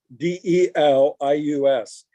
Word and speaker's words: Delius: It's like the composer Delius, Delius.